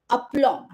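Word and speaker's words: aplomb: the second word is upom b is silent here and it is called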